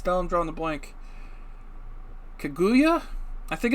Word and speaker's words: Kaguya: oh i knew how to pronounce this down draw on the blank kaguya i think it's kaguya the tale of princess kaguya this is based